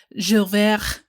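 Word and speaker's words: J'ouvert: This move was actually announced during a security briefing focused on Jules Verne.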